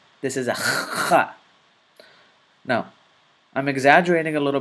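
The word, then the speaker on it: خ: This is another letter that is pronounced from your throat, but the sound comes from the middle part of your throat, right above your chest, just like the ha does.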